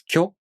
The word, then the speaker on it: きょ: To pronounce Kyo, the tongue moves from the ki consonant to the o vowel.